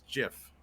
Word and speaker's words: GIF: oh he says it's he says it's jiff uh that's that's technically the correct way to say it but oh no yeah